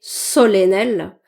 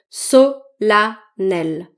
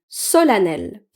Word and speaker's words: solennel: Et ce mot solennel. En fait, on va pas le prononcer solennel. On va le prononcer solel. Solanel.